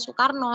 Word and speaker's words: Soekarno: yang dari jam terus u itu oe Soekarno jadi apa namanya pelafalannya Soekarno seperti itu jadi sejarahnya itu memang